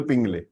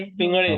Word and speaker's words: पिंगळे: कुलकर्णी साहेब तुम्ही आहात आणि पिंगले, अमोल पिंगले। एक्चुअली उनका प्रोनाउंसिएशन शुड बी पिंगाले ना? कसे प्रोनाउंस? पिंगलेच करता ना तुम्ही? पिंगले। पिंगळे। पिंगले, पिंगळे, अळ आता है पिंगळे।